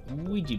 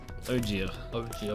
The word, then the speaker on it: Ouija: The way Ouija is spelled is always like confused me. Ouija board. It looks nothing like. Nothing like a double E in any language, surely.